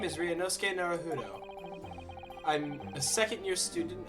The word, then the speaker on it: Ryunosuke: It's fine if you can't pronounce it. Ryunosuke.